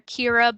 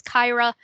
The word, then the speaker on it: Kyra: someone last semester kyra i kept calling her kira but it was kyra um so i want